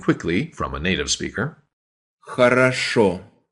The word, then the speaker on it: Хорошо: All 3 vowels there are the letter O, by the way, but in Russian, only one O per word can be pronounced as an O. The rest sound like a.